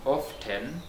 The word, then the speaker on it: often: hear some people saying often but this t is silent we don't read it we ignore it when we are reading or speaking john often often often